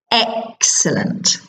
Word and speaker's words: excellent: see in this table excellent has three syllables and the stress the main important push if you like is on the first syllable excellent okay I'm going to